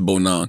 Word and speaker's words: Bonang: Cause I was saying Bonang, but it's Bonang.